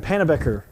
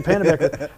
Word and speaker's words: Pannebecker: Pannebecker. I said it right. You did. Got it right, Pannebecker.